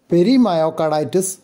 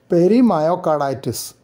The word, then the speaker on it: Perimyocarditis: Perimyocarditis. Predominant myocarditis with pericardial involvement. So the stress is on the second part of the name.